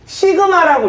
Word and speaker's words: 시그마: 틱은 모양 틱은이 아볼라 이거를 시그마라고 읽어요 시그마 자 따라해 봐 시그마